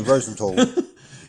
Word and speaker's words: Rosenthal: Rosenthal rhymes with hall or wall, not hal or pal. Again, so Rosenthal.